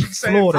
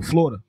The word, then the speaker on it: Florida: So Florida. I say two. Florida. It's actually three Florida. Syllables. Florida. I say Florida. It's Florida. No, the real word is three. But I say Florida. Like two.